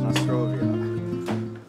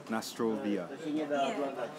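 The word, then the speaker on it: na zdrowie: a little dangerous this noia what did I say it wrong it's Nostrovia Nostrovia and and we're going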